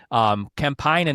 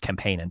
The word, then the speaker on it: Kempainen: You're not, but you can say it that way. It's actually, that's the correct Finnish pronunciation. I learned that from Children of Bodom. Kempainen is how they pronounce it, but I'm, you know, I don't have any, I don't know any Finnish or anything, so it's just Kempainen.